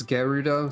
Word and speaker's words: Gerudo: Somebody tell me if there's a canon pronunciation of that word while I do this. Oh, it's Gerudo?